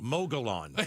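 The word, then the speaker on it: Mogollon: Mogulon. Yeah, that's what it looks like. M O G O L L L O N. But two L's, remember, are a like a Y almost. Get out of here.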